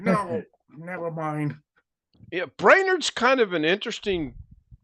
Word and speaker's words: Brainerd: You take the word brain, take the word nerd, put them together, you say it quickly.